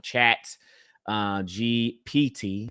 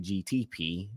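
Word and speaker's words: ChatGPT: I'm probably saying it wrong. Chat uh GPT. I say GTP.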